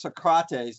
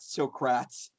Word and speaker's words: Socrates: it's by the way it's pronounced Socrates not srats right I answer that